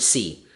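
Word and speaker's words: sí: I heard the word c unless she meant s e that's English see C in Spanish is yes but it's spelled SI I with a wacky little accent mark over the eye they just love their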